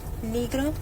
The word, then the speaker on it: Negro: I don't know what is in English, but Negro in Spanish. El apellido. Nigro. Nigro. Okay. Mm-hmm. Entonces, her last name is pronounced Negro. It's Negro. Okay.